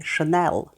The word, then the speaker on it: Chanel: різних версій у вимові у французькій мові немає твердого звуку л як наприклад в англійській шенел тільки не давайте порівняємо